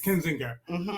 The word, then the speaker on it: Kinzinger: from Illinois uh name is Adam I can't pronounce his last name um kininger I think kinger yes kinzinger um and he said and he and one